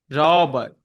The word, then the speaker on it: Robert: I also need to hear the T at the end. It's not like T but Robert. Robert.